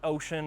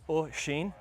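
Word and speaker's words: Oisin: So, I'm here with Oshin. That's actually how you pronounce his name. It's not Ocean or whatever. It's Oshin.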